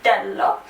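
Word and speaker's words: dell': plus lo, which becomes dello, di plus la, which becomes della, di plus l apostrophe, which is del, same pronunciation but double L apostrophe, di plus e is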